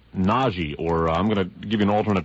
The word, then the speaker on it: Nagy: So you'll actually pronounce it Nagy Ferenc.